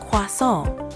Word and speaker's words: croissant: Try emphasizing the nasal sound at the end a bit more, like croissant.